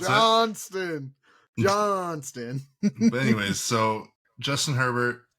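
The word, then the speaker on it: Quentin Johnston: So because of that, I think Herbert has been starting to find Quentin Johnson. That's his name. Because I know some of y'all don't know how to pronounce it. Johnston.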